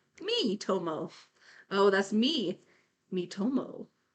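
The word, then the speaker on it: Miitomo: people have like modded miltomo so now you're just saying random syllables the three three Ryan said yeah probably it's probably the one tell them all that's an eye not an L me Tomo oh that's me me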